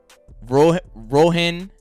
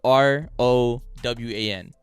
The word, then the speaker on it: Rowan: how you pronounce this r r o w a n bro rowan rowan rowan his name is rowan okay rowan rowan alexander barry did you know that no sir i hope you know rowan alexander because we all